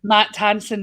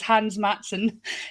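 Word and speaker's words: Hans Mattsson: I always call him Matt Hansen, and it's Hans Matson.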